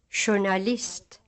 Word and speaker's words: journalist: In some words borrowed from French, J is pronounced like English sh. Listen. Journalist.